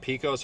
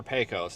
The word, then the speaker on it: Pecos: the lady, I'm like, is it Pecos or Pecos? And she says, we don't care. They're both right.